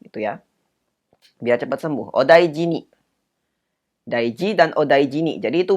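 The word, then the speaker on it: お大事に: hiragana nih di belakangnya jadi bacanya odaijini kalau sudah begini Itu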